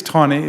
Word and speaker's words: Taney: We just disagree on the pronunciation of his last name, I think. 'Cause Taney. I think it's Taney. At least the people in Maryland say it's Taney.